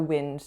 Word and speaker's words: wind: a different context and suddenly wind isn't acting as a noun it's acting as a verb so for example you need to wind up that toy wait what that doesn't sound right wind up that toy no we wouldn't say that we could say wind